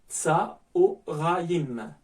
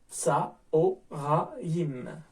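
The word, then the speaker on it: צָהֳרַיִם: Par exemple, avec le mot tsa-o-ra-yim. Ici, donc, on a un khataf kamat situé sous le E et ça va se prononcer O au niveau du son. Donc, tsa-o-ra-yim.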